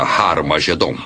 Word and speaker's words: Har Magedon: E realmente em algumas das antigas versões do Novo Testamento, escritas em grego, Armagedon tem o som aspirado no início, que significa que era pronunciada com H. Originalmente era Har Magedon, e é muito fácil passar de Har Megido para Har Magedon.